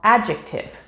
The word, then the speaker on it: adjective: in acquire or black d the letter d is silent when we see it in combination with j or g for example adjective bridge or edge however it is also silent in some other words such as sandwich or wednesday e we have talked